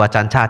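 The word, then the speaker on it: Ajahn: Ditulis pakai J sebenarnya bacanya C itu bahasa Thai. Baca yang benar adalah acan. A-nya panjang ya. A yang kedua panjang acan ya.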